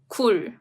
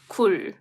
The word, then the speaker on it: 굴: Let me pronounce those words, okay? 글 and 굴. 글, 굴.